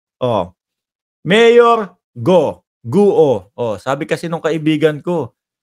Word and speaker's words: Guo: y Mark Mayor go ang ang pronunciation yung you is silent you yon Mayor guo Okay guo na lang